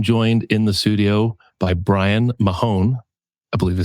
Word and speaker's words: Brian Mahon: I'm joined in the studio by Brian Mahon.